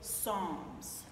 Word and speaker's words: Psalms: Bible is the Book of Psalms p s a l m s multiple silent letters which is irritating I